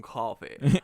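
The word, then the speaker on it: Coffey: man yeah yeah John coffee spelled like the drink but no wait sounds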